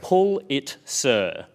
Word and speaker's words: Pulitzer: Pulitzer, which feels right.